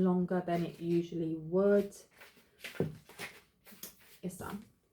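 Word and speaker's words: Isa: Issa. Pronunciation, Issa, meaning ice or frozen.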